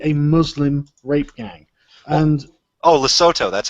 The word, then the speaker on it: Lesotho: And Lesotho, that's how you pronounce it.